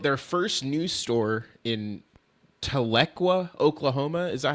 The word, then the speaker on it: Tahlequah: And they built their first new store in Tahlequah, Oklahoma.